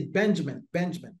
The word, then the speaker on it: Benjamin: Donc, je disais, la prononciation, c'est Benjamin.